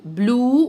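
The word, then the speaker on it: blue: اللون الازرق اسمه ايه بلو واحنا اتفقنا ان الاي في اخر اي كلمه مش بننطقها بلو اللون اللبني او اللي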